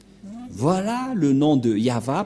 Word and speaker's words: Yahvah: de de yava et la prononciation de y h vav he selon les ébreues c'est yava et personne ne peut